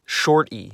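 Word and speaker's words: й: e with a crown when it's wearing its Crown its name becomes short e the sound that this letter makes is e most of the world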